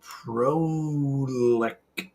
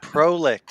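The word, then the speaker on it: Prolicht: to work with this new light called the Prolect. Prolect. It's Prolict. It has to be.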